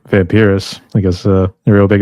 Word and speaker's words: Vampirous: Vampirous.